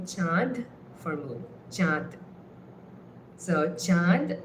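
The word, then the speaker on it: চাঁদ: spelled with in English C h a n d or ch h a a n d. So that n is the chandraindu. It's it's not really chand with the n.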